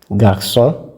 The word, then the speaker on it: garçon: Wherever you see the cedille, you know that you pronounce the C like S. For example, garçons, leçons.